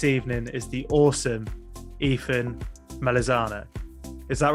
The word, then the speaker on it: Melisano: My guest this evening is the awesome Ethan Melisano. Is that right? If I pronounced it right? That is Melisano.